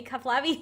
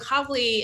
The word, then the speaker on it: Kavli: gonna print mispronounced that you want to help me cuff lobby institute that's i totally did that wrong you almost got it well it's actually the kavli institute for particle astrophysics